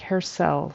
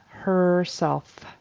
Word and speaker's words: herself: herself herself I think he says something like herel so the F was not pronounced and that vow e r was something else it needs to be ER herself herself in the mirror mirrror is tricky the